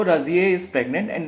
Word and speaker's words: Razieh: And then enters a woman called राजिए, जो उनकी pronunciation में वो रोजिए बोलते हैं।